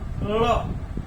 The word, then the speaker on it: ळ: आपने कभी देखा इसका उच्चारण न तो ल है, न ही ड है, न ही ड़ है, क्या है, ळ ळ ळ।